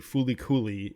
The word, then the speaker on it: FLCL: And then it was like, because that's the Fulikuli, it's the Japanese pronunciation of Fulikuli. That's what it's technically called.